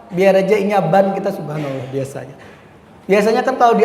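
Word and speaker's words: سبحان الله: Soalnya bacanya beda. Subhanallah lawan banallah tadi.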